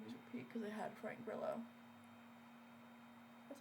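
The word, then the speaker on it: Grillo: Those movies repeat because it had Frank Burllo. That's how you pronounce his name.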